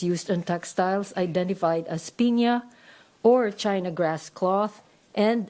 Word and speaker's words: piña: There were also handkerchiefs, some of piña, some of white China silk, light floss for softness. It's generally pronounced Piña, according to the American lady.